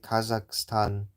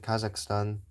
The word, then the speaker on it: Kazakhstan: I don't know why why someone would say Kahhatan, but for me I say Kazakhstan. Well, that's how I pronounce it. Kazakhstan. At least that's how that's how they say it in American English.